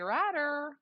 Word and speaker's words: Ratter: flight fergus third henry ratter rhymes with ladder with ryan coke jones